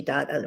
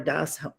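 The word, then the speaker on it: דעת: So dot connects you to reality, dot or das, depending on pronunciation, connects you to reality in an experiential, present tense, real way.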